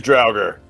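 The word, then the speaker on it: Draugr: You guys go kill these droger. Send them to their final rest. Don't use the hard R, dude. My god. I mean, you're not technically linguistically wrong. The R is silent.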